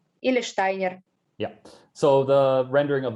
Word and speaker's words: Steiner: you will know this, that an S before T is pronounced as a sh, and you don't, even though it is rendered in what orthographically usually would be a s.